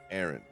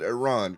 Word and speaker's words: Aaron: Every game, Aaron's name gets one new letter. It has been Aaron. I've never pronounced it Iran, correct?